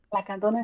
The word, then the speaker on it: Lacandona: ¿Cómo lo vas a pronunciar? La Candón Speed. La Candona.